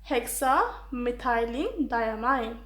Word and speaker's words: hexamethylene diamine: It's pronounced as hexamethylene diamine.